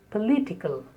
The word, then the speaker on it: political: The next is political. Again, the letter O is spoken as a because the stress is on the second syllable. Political.